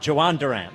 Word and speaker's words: Jhoan Duran: the big trade yesterday Phil's add Joan Durant and I believe the J I believe it's not Yo I believe the J is pronounced like a J between him and